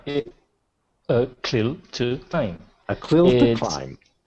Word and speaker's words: A CLIL to Climb: How do you pronounce it? Right. It clear to time. A clil to climb.